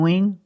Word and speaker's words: wing: Pronunciation, make that long E sound, we, plus the NG, The N sound in the back. The sound comes from the back, and the nose. Wing. There's no G sound.